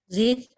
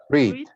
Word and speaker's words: read: The present is read. The past is read. Solo la pronunciación, este es un único caso. Solo la pronunciación cambia, como el color rojo. Read, present, read, past.